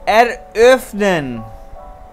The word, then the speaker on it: eröffnen: कैसे प्रोनाउंस करेंगे? eröffnen.